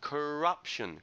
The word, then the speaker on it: corruption: Second word that you had problems with, corruption, corruption. The stress is on the second syllable.